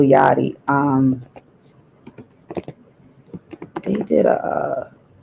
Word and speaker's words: Yachty: little yachi little yachty it spelled like yachi but little yachty um they did a